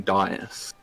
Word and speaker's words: dais: So, situated on top of a large stone dais, or however you pronounce that. Dice is correct.